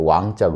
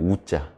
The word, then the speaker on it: 尢: 요게 이제 이렇게 해서 왕자 든요 왕자 요게 절름발이 왕자도 되고요 절름발이 발이 왕자 특별 더욱 더욱 별로 할 때는 우자 발음 우로 하고 절름발이 할 때는 이제 왕자로 하고요 발음을 그래서 왕 특별할